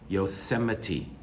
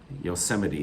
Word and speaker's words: Yosemite: area number nine d by the way the pronunciation again it's strange yosemite yosemite it's a native indian word number 10 uh